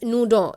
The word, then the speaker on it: Naudin: You can pronounce it as Naudin in French.